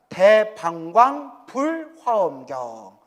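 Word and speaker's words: 대방광불화엄경: 대방광 불화엄경. 예. 그래서 대방광불 화엄경이라고 하죠. 정확하면 대방광 불화엄경. 이게 정확한 이제 발음이래요.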